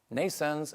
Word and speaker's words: NNAISENSE: are constructing at nens nens is pronounced like birth in English like n but it's